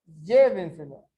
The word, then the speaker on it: llévenselo: Se eu escrever llévenselo. Llévenselo. Ó, aguda, grave, esdrújula, sobresdrújula. Mas onde está o som mais forte? Llévenselo. Ó, aqui, não interessa em que terminou.